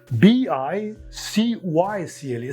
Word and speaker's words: bicycle: you can add Buy then pronunciation is changed unexpectedly it becomes bicycle not cycle it is always by